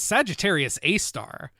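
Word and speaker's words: Sagittarius A*: Well, star number 3, sad to say, is Sagittarius A star, which it's pronounced A star, but it actually refers to the supermassive black hole at the center of the Milky Way galaxy.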